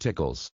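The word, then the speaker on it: TICLS: central nervous system function the tickles pronounced tickles pneumonic highlights the most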